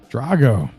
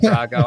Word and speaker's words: Drago: was Ivan Drago, Matt Drago, and I would have said Drago even though I pronounced it Drago.